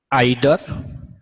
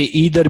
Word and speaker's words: either: Distributive pronoun आज की class में मैं आपको आइदर, इसे ईदर भी बोला जा सकता है, नाइदर, कुछ लोग इसे नीदर बोलते हैं, दोनों प्रोनाउंसिएशन सही हैं इसके, एनी और नन, हम इन चार की बात करने वाले हैं।